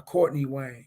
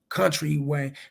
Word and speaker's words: Country Wayne: no the black guy goes by Courtney Wayne but it's pronounced country Wayne Country Yeah country Wayne